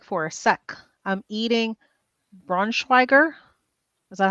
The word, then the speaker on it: Braunschweiger: I'm eating Braunschweiger. Is that how you pronounce it?